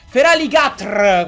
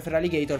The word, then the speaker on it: Feraligatr: Feraligatr, come si dovrebbe pronunciare, però la gente lo pronuncia Feraligator perché siamo tutti stronzi e lo sappiamo pure.